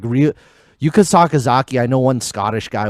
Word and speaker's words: Sakazaki: because like real yuka sakazaki i know one scottish guy was like trying to say her name a bunch of times sound it out bro yeah it's it's just through two parts saka zaki you know and then